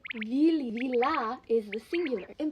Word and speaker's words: vili: In the ballet, people call the ghosts willies. It's just a really bad pronunciation of the Slavic word vili.